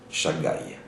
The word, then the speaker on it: Shaddai: transformerai, ce nom-là, mais c'est le nom Shaddai, que maintenant on prononcera par Shagai.